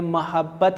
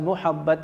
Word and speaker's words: محبت: جس کا، اور بچوں یہ جو تلفظ ہے محبت کا، یہ محبت ہے، میم کی زبر کے ساتھ، میم کی پیش کے ساتھ، محبت نہیں ہے۔ تو اصول محبت ہے